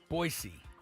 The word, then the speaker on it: Boise: them badly that game was in Las Vegas Boise State beat them earlier this year I don't know four points doesn't seem right I must say Boise boisey boisey I'm the one who always says pronounce it right by the way Genty yeah